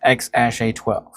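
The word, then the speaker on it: X Æ A-12: The AE symbol, pronounced ash, it is an elven spelling of AI for love and or artificial intelligence.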